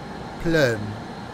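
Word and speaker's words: Plön: It's pronounced plum. Plum. Plum. Plum. Plum. I'd upset the Germans because I'd be calling it Plon.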